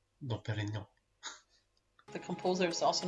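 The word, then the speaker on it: Dom Pérignon: How do you pronounce it? Dom Perignon. Dom Perignon.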